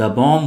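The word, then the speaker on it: bomb: बम बम बम बम यहां पे बी को साइलेंट रखिएगा। द बम will destroy everything.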